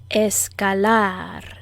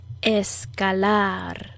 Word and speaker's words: escalar: hike or climb escalar notice where i put the subtle emphasis in the word escalar escalar let's conjugate the verb